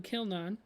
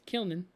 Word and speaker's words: Kilnan: group or not but apparently I've been pronouncing it wrong I thought it was killnon but it's kilnan um and then uh